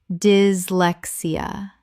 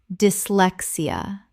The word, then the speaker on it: dyslexia: Dyslexia. Correct pronunciation. Dyslexia. The Y in dys makes a short I sound, 4 syllables.